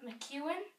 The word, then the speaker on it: McEown: Just, Hosea McEwen, but it is spelled, McEown.